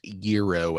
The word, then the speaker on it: gyro: There's like gyro aiming. Oh, yeah. And it's pronounced Euro aiming.